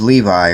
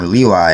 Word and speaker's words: Levi: of the house of levi or leui as it is pronounced here went and married a